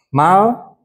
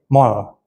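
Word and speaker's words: مال: Zakat ada dua, ada mal, ada fitrah. Ini mesti dibetulin nih ya. Pertama mal ya. Ini banyak yang bacanya jadi mol. Ini salah. Salahnya di mana? Karena kebiasaan ngomong mol.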